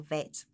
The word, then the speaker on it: Bet: a v a b i mean if there is no dot in the middle then it is the or the sound of a v so that's how you know the difference between whether to pronounce it bait or vet the number associated with